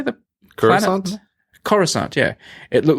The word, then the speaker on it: Coruscant: this a cross how do you say that Coruscant yeah it looked like it should be on